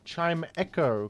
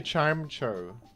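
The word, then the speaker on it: Chimecho: yours and you pronounced Chime Echo correctly. What's next? No, no, no. Chime. I used to say chime cho and then a million commenters corrected me so I adjusted my pronunciation.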